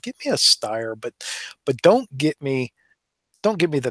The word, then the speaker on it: Steyr: The Steyr, or Steyr, as I think it's probably more properly pronounced.